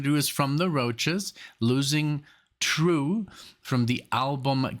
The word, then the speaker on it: Roches: or Brothers albums by the roaches pronounced roaches there you go see I had